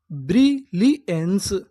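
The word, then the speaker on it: brilliance: इतनी मीनिंग ब्री ली अब आपको गौर करना है ए एन सी ई पर अगर अगर आपको इंग्लिश में कहीं पर एन सी ई लिखा मिले तो हम लोग ए एन सी ई को पढ़ते हैं। एंस क्या पढ़ते हैं?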